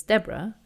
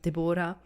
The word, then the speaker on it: Deborah: It's like, no, there's an H at the end. That's why it's spelled. That's why it's pronounced Deborah, not Deborah.